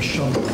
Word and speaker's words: Shumway: It's the one that's, I won't say how I'll portray it, but it's, it was Governor Shumway. It rhymes with shush.